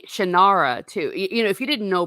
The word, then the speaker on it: Shannara: never knew what was the proper pronunciation of Shannara until last month, and I first read the sword back in 1986. Yeah. I had to ask. It's Shannara. Yeah. But I think that you could say Shannara too.